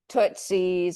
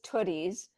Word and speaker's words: Tootie's: Did I pronounce it correctly? Yeah, I mean, we'll respond to basically anything. We get Tootsies and we get Tooties, but it's Tooties.